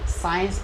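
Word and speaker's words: science: तो इसे देखो पढ़ेंगे तो साइंस पढ़ेंगे, क्या पढ़ेंगे? साइंस, क्योंकि सी साइलेंट रहेगा।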